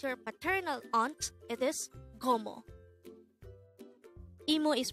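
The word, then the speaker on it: 고모: as a two-syllable word the first syllable is go and the second syllable is mo again imo is your mother sister and gomo is your father's sister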